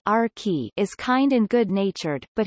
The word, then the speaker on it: Archy: Archimedes, or Archie, pronounced Arki, is kind and good-natured,